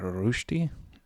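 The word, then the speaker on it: Rösti: I probably pronounced that wrong. I think the proper pronunciation is more like rosti, but I'm going to call them rosti. I'll probably annoy some Swiss people.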